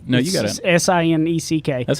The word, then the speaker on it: Sinek: A great book to go get is Simon Sinek, and I always say his last name wrong. No, you got it. Sineck. That's how I say Simon it. Sinek.